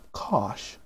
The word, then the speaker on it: cosh: And hyperbolic cosine, sometimes pronounced cosh, is going to be e to the x plus e to the minus x over 2.